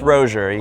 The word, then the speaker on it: Rosier: This is Rosier. Did I pronounce that correctly? Definitely not. But you pronounced it probably correctly from my French ancestors. Okay. It's Rosier. I'll take it.